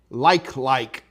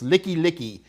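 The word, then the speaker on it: Likelike: street in Honolulu called Like. Now that's a joke. It's not how you pronounce it. It's Licky Licky. But to this Howley, it looks like L-I-K-E space L-I-K-E. So, yeah.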